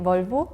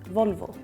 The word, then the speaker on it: Volvo: Maybe the V you pronounce differently, like it's kind of a B. Yeah, it sounds B and V. In Spanish, they sound same.